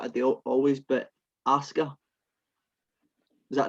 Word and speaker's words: Asuka: We have the Raw women's match between Rhea Ripley and I'm going to pronounce this wrong like I do always, but Asuka. Is that right? That's right, Asuka.